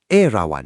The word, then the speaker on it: Erawan: 著名的 Erawan 四面佛吗 Airawan 这个名字其实就是 Airavata 在泰文里的发音。